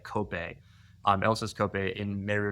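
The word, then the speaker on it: Kopje: Cy called elsis uh it looks like it's pronounced cop J but it's like cope um Els COPE in Mario National Park we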